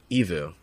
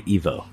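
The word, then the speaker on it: EVOO: place I worked at is that how they had you pronounce it evu evu yeah or was it Evo evu evu yeah I think so okay yeah because a lot of people say Evo oh really yeah like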